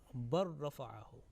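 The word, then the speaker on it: بل رفعه: As you can see in the bracket, bal rafa'ahu, and it will be pronounced bar rafa'ahu.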